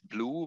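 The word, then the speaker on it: BLEU: is uh what is what is uh mostly pronounced blue of course it's from the french blue and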